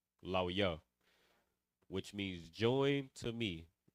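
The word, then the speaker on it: לוי: So Levi is the English, Lawya is the Hebrew, Lawya, which means join to me.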